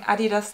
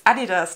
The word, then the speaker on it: adidas: stella mccartney adidas now i start saying adidas the way that americans say it it's adidas not adidas nylon understated and luggage